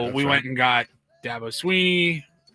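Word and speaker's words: Swinney: And it's Sweeney as in just like E.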